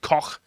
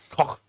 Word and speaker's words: Koch: Koch. Is that how you pronounce it? Koch. Yeah. They're Koch guns. Not a rude word, I'm just saying the name of the German company.